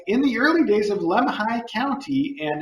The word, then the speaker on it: Lemhi: the early days of lemhi county and it's very fun for when you have time oh that does sound fun pronounced like lamb high i think i did